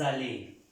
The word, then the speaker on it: allaient: Sabemos en las reglas que esta AIE se pronuncia E. AIE. Ale. Esta N y esta T no se pronuncian.